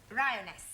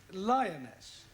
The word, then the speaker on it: lioness: of the following lion roness lioness roness no l l r r you're not saying it right very sorry I know